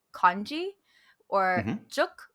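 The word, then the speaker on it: 粥: juk, which is how it's pronounced in Cantonese, which is a rice porridge.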